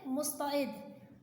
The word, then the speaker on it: مستعد: میں پہلا لفظ ہے مستعد، میم پہ پیش، سین پہ جزم، تے کے اوپر زبر، عین کی نیچے زیر، دال ساکن۔ اور اردو میں ہر